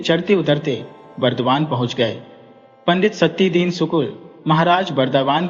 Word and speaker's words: सत्यदीन: पंडित सत्यदीन सुकुल महाराज वर्धवान के यहां जमादार थे। यद्यपि बंगालियों को सत्यन शब्द के उच्चारण में अड़चन थी। वे सत्यन या सतिधीन कहते थे।